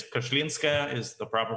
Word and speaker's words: Kashlinskaya: It's Kashlinskaya is the proper pronunciation. Kashlinskaya. I always say Kashlinskaya, but Kashlinskaya. Yeah, but it basically, you know, most Russian names sound long, but you pronounce them how it's spelled.